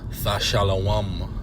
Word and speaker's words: Thashalawam: Which in the Hebrew is pronounced Thashalawam, Thashalawam. And this word pay in